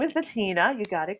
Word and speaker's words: Bettinna: us all about you yes my name is matina you got it correct it's spelled as b e double c i double